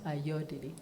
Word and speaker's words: Ayodele: It's not ayo, it's ayo. Ayodele.